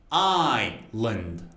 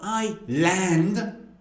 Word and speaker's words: island: None of them. It's actually island. Island. Island. Island. The second part has a schwa. So it's not I-land. You don't have that much energy.